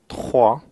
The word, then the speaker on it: trois: So just like we pronounced zéro with air passing through the throat for the letter R, we also have trois with aspirated R, again air passing through the throat.